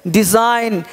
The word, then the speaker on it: design: पर जी साइलेंट है डिजाइन क्या है जी साइलेंट है देख पा रहे हैं